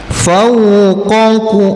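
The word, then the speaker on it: فوق: Fauq fau bukan fau ya. Ingat wau tidak o tapi u.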